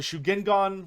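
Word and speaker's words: Shugengan: magic whereas yin is moon magic uh the shuging gone which is probably the pronounced the correct way to pronounce it even though i think shukugan sounds more fun uh shugin gun uh which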